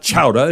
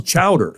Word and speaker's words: chowder: here too come on let's go it's not chowa it's chowder come on oh say it any way you